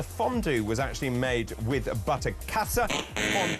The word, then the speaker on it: Butterkäse: Now, the fondue was actually made with butterkäse. David's pronunciation of the German cheese, it's not butterkäse. What is it then? It's Butterkäse. Oh, Butterkäse. Not butterkäse. Thank you.